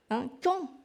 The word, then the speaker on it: quand: Et alors, il reste do, quand. Il y a un D qu'on ne prononce pas non plus.